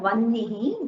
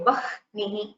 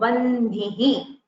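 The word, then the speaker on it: वह्नि: So the Sanskrit word for fire, vannihi, that we saw, we should not say vahnihi. We should not pronounce the hakara first.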